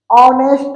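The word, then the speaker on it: honest: है क्याय नेस्ट है इसमें एच साइलेंट होता है ही इ नेस्ट मैन ऑनेस्ट मैन तो हम बोलते है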